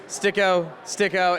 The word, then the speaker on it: Styk: I'm here with Martin STYKO. Is that exactly how it's pronounced? Because on Wikipedia, it says it's a different pronunciation than how Americans are pronouncing it. So I'm Martin Styk. Martin Styk. Yes.